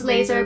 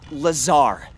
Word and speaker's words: Lazar: Rangers, this is Laser Blazer, a researcher in our R&D department, and its sales liaison. It's Lazar, actually. Accent on the czar.